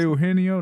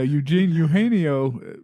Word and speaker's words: Eugenio: Eugenio. It's too. Yeah, it's the EU part is hard to get because I know the Genio. The EU part. Eugenio.